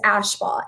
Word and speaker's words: Ashbaugh: um and then my last name is ashbah a-s-h-b-a-u-g-h wonderful okay so make sure if you